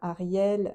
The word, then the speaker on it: Hariel: mais bizarrement, donc déjà son nom s'écrit avec un H. Avant le A, il y a un H, H-A-R-I-E-L, voilà, Ariel, voilà, même s'il n'a